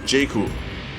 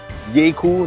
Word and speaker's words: Jaecoo: A Jaecoo, the name derives from half the word Jaeger, meaning hunter, and then half the word cool, so you get Jaecoo, and perhaps it should be pronounced Jaecoo then.